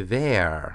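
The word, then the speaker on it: vair: was supposed to say ver, which is v a i r e, spelled differently, pronounced almost the same, which means fur.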